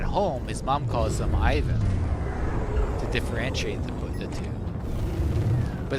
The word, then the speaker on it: Ivan: his mom calls him Ivan to differentiate the two. But the funny thing is that his mom, she pronounces it differently. She doesn't say Ivan. She says Yvonne.